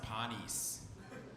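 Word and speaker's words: panis: teach was a latin word for bread it's pronounced pawnees and it's spelled p-a-n-i-s and i used to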